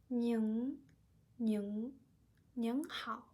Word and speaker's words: 您: To pronounce 您, you need to find that is an echo in your nose. 您,您,您好.